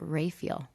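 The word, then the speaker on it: Raphael: june diane you know she would pronounce it ray feel whoa we pronounced it wrong when she was on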